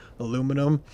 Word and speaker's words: aluminum: And then aluminum, as I spell it, aluminum. It's so funny for you uh my UK audience fans because you guys say aluminium.